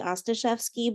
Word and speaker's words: Ostaszewski: For those faces that are unfamiliar, my name is Ostaszewski. I should have given y'all the way to pronounce it is like saying pasta chef ski, drop the P, pasta chef ski, Ostaszewski, but most people call me, to be honest.